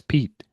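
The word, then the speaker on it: Pit: It's Pete. I T. But there's no other way that I can think to pronounce P I T. So it's Pete.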